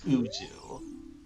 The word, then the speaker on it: Ozoo: a note sheet on all of our runners, and they put it that it should rhyme with zoo, so it's Ozoo.